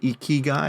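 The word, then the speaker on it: ikigai: article or at least you can Google the Eek key guy and it's really i i g AI so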